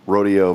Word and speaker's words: Rodeo: Yeah, I just started thinking, I've heard numerous people say Rodeo. I think they're trying to pronounce it in Spanish, but What's the officials like? Because even in Spanish, it's not Rodeo, it's like Rodeo.